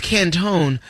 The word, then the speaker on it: Canton: So your baby's name is not even Canton, it's Cantone. That's the awesome. baby's name is what, Crack? Cantone, but it's spelled Canton. Trying to make it sound French.